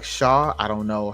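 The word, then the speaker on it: Shough: Uh, as far as the Saints are concerned, Tyler Shook, but it's pronounced like Shaw.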